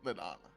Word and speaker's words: Lelana: It's pronounced Let- exactly how it looks. Let. Oh, it is pronounced Lelana.